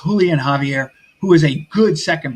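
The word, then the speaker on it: Julián Javier: being called um I I pronounced his name Julian Javier but it's Julian Javier who is a good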